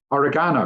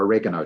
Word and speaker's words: oregano: Christine, this is oregano or oregano, depending on how you say it.